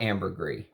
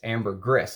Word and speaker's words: ambergris: ambergris and it's not ambergris it's ambergris that's how you're supposed to pronounce it that's what he says the people in the trade call it so you're supposed to pronounce that s whether you do ambergris